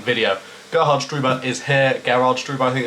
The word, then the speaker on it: Gerhard Struber: Gerhard Struber, I think it's there he is how it's actually pronounced.